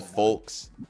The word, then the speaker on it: folks: There's an L. Folks. He never once pronounced the L.